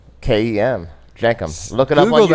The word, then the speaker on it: Jenkem: How do you spell that? Jankum. It's Jenkem.